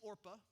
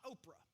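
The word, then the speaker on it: Orpah: a break right here you think I'm saying it wrong but it is orpa it's not Oprah when you read it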